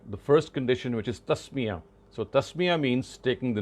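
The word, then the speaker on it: تسمية: first condition, which is tasmiyah. So tasmiyah means taking the name of God. Tasmiyah. Tasmiyah is how you would pronounce it or write it in these spellings in the English language.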